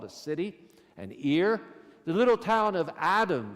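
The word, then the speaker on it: עיר: The word for city is just like the thing on the side of your head in terms of pronunciation. It's ear.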